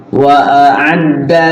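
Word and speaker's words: وَأَعَدَّ: Wa a'adda lahu, wa a'adda lahu, wa a'adda lahu. Ayo. Wa a'adda lahu. Bedain. Wa a'adda lahu. Alif dulu baru ain. Sama juga dengan baca ta'awud.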